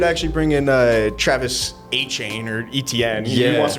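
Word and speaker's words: Etienne: It's like some like French way to say it or something is.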